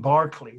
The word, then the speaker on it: Berkeley: "You mean Barclay?" That's how they pronounce Berkeley there.